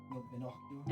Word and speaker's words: innocuous: rer help how do you say this word innocuous innocuous thank you innocuous conversation naty while she